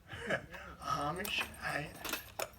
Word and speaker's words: Amish: in England by the Amish armish some people tell me you're supposed to say it like Army and this part here